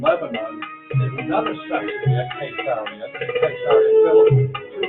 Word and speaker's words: Caesarea: Now moving north along the coast of Israel from Tel Aviv, this is, well, Caesarea, the proper pronunciation is Caesarea, named after Kaiser or Caesar.